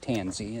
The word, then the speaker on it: Tansi: But like I said, if you look on the website for Lake Tanzy and it's spelled Tan Si Crossville, Tennessee, you'll see the uh rates and the season that they're open if you're interested.